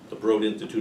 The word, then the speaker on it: Broad Institute: Most recently doing genetic research at the Broad, rhymes with Broad, the Broad Institute of MIT.